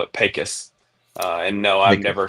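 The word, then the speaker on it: Pecos: It's called It's pronounced Pacis despite its you know how it appears. They call it Pacis.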